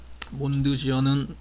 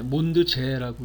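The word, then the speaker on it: Mondsee: 몬드지어는 오스트리아 독일어를 쓰잖아요. 몬드는 이제 달이고 지어 또는 제, 몬드제라고 읽기도 하던데요.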